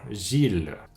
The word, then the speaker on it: Gilles: les noms propres comme Gilles donc encore ill et comme déjà expliqué encore la plupart de temps ill se prononce I mais dans certains noms propres ça devient il comme encore Gilles c'est un prénom masculin